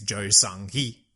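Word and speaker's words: 조성희: the pronunciation of this one, and it is Jo Sung-hee. Probably, Jo Sung-hee. That's what Google pronunciation told me.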